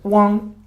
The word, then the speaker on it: 汪: Okay, and but also here it's the words pronounced as 汪. 汪 and 王 is very similar.